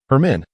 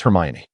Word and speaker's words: Hermione: Hermione, she articulated slowly, inunciating each syllable. Hermen? Crumb mistakenly repeated. No, it's Hermione. Her men, he insisted, figning ignorance with stubbornness. Never mind, that will suffice. Hermione sighed with a smile, joining Mia and the others.